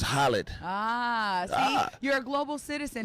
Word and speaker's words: Khaled: That's like, you know, we say DJ Khaled. And, you know, over in the Middle East, it's just Khaled.